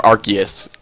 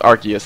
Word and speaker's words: Arceus: Or Arceus. Because it's apparently pronounced Arceus and not Arceus.